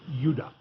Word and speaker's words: Judah: More properly pronounced Judah, because we didn't get the harder sound to the J until about 200 years ago.